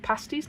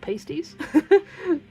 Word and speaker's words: pasties: So, do you know that they're called pasties, not pasties?